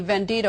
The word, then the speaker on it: vendido: you that you were a vendido, I don't know if I'm pronouncing that correctly, which is the Spanish term for sellout. Good pronunciation.